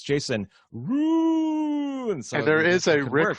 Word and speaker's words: Ruud: We also have Jason Ruud. Ruud, is that how you say it? No, you're saying it right. Okay. You're saying it right. Okay. Nobody wants to say it, but it is Ruud.